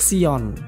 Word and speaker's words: Zion: Istilah Zionisme berasal dari akar kata Zion atau Sion, yang pada masa awal sejarah Yahudi merupakan sinonim dari kata Yerusalem. Zion adalah pengucapan dalam bahasa Inggris. Dalam bahasa Latin akan disebut Sion.